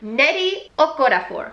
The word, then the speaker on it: Nnedi Okorafor: the first one here which is binti by nnedi okorafor that is how I saw her say her name is pronounced on Twitter oh I'm really hope that